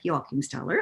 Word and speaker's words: Joachimsthaler: to be uh joined this week by jockenstaller i hope i'm pronouncing that properly you do my parents are